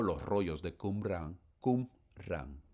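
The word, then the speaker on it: Qumrán: los rollos de Kumrá, Kumran, así se pronuncia, así se escribe en español, tal como lo estoy leyendo.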